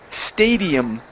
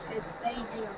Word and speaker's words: stadium: we have the word Stadium Stadium estadium okay let's try that again instead of e Stadium take off the e